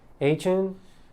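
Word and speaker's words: Achane: Look, Devon, how do you pronounce his last name? Achin.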